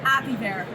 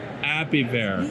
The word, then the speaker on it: Apiverte: Apiverte? Was it? All right, say it. Apiverte. Apiverte. The E is silent.